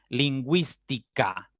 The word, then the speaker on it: lingüística: Lingüística, ¿sí? La U se pronuncia.